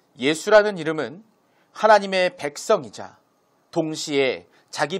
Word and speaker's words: 예수: 히브리식 표기와 헬라식 표기가 다르기 때문에 읽는 것이 달라서 여호수아, 예수아라고 구약에는 발음이 되었지만 신약시대에서는 예수라고 발음이 되는 것이죠.